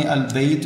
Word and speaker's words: البیت: لام نہیں پڑھی جاتی، جیسے آپ کے سامنے البیت میں ہم نے لام پڑھا ہے، تلفظ کیا ہے، نطق